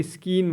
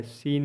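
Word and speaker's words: scene: ई सीन मतलब दृश्य इसको कुछ लोग स्कीन बोलते य सी साइलेंट रहता है सीन ही पढ़ेंगे ठीक नंबर थ्री है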